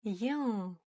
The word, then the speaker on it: ең: И пробуем прочитать. Ең, ең, ең. Ну и я надеюсь, вы помните одно из правил, да? Как пишется, так и читается. Ни одна буква не искажается. То есть написана буква Ен, значит и читаем через букву Е.